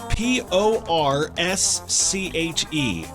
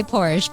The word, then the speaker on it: Porsche: P O R S C H E. I always say Porsche, but it's like Porsche, isn't it? It's Porsche. Yes.